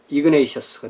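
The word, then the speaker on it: Ignatius: 자, 이그나티우스 그 각주를 보면은 이그나티오스는 원어에 가까운 발음이고 영어식으로 읽으면 이그네이셔스가 되죠.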